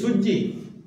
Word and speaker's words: সূর্য: যেমন সূর্য, আমরা বলি সূর্যি মামা। কি সূর্যি? শব্দটা তো সূর্য, কিন্তু আমরা ওটাকে বিকৃত করে উচ্চারণ করছি সূর্যি।